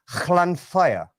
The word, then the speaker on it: Llanfair: It's not fair. It's fire. Llanfair.